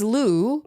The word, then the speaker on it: Lou: It's Lou, pronounced Lou, L-O-U. It's a nickname, but I think it's cuter when spelled with 2 U's.